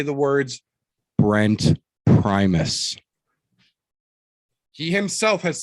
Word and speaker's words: Primus: p r i right p r i m u s so if you went phonetically that would be primus like optimus prime just take the e out and put us in it yeah it's crazy it